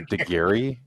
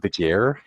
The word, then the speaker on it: DeGare: Stein kept on like calling her DeGary instead of DeGare.